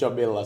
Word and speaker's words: Jobilla: In Finnish language, you would use Jobilla, yeah. But then in English, it's Jobilla.